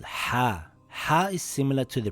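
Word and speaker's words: ح: It isn't like the letter H in English. Here are some examples of what it sounds like. If you hold a mirror or your glasses and you go you will see the glass go foggy. This is the sound you want. Or when you take a big sip out of your juice on a hot summer day and when you are done you say that's the sound you need. Ha.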